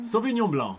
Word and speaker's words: Sauvignon Blanc: And it's famous particularly for, I'll give the pronunciation to Robin, It's Sauvignon. Sauvignon Blanc.